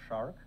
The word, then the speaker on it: SSHRC: But I think you're aware of SHARC, the Social Sciences and Humanities Research Council of Canada. SHARC, yeah. Did I pronounce it wrong? No. Okay, SHARC.